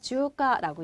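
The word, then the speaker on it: 中華: 자, 그다음에 중식은 여러분 특이하게 자, 어떻게 읽어요? 주가라고 얘기를 해요.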